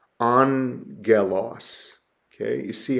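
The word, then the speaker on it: ἄγγελος: we would pronounce that Angelos Angelos okay you see how I've broken down the syllables and transliterated the sound there on Galos that first gamma is pronounced with an N angalo okay regular gamma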